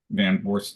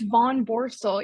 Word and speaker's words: Von Borel: today uh Molly uh van Borel am I pronouncing your last name correctly by the way uh it's Von Borel yeah that's a tough